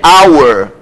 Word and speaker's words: our: h é muito então aqui é our o h não tem som como também acontece no